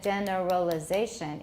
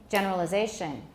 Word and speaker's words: generalization: significant generalization generalization generalization there's a timing issue there instead of generalization which is too slow we have to speed up some of the unstressed syllables generalization still too slow listen generalization generalization instead of gender realization it's generalization generalization generalization it has two stresses actually i should have